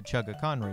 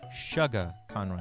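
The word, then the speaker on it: ChuggaConroy: fact we actually i we did not know how to say his name not emil like his actual like youtube name uh chugga conroy we thought it was shugga conroy like sugar so i really thought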